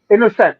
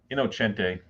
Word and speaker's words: Innocente: He would play on the fact that most people would say his name is innocent.